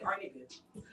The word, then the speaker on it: Arnickia: it's Arnickia. Yes. That's how you say it. Yes, Arnickia. Okay, Arnickia. All right, period. And it's not that hard to say.